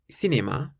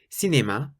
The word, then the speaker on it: cinéma: If you see the letter C in front of an E or an I, then you pronounce it like an S.